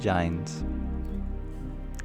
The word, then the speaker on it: Jain: Swami Sri visited the homes of thousands of Muslims, Christians, and Jains. I always find that funny. Did you know that the correct pronunciation of the Jains is Jain?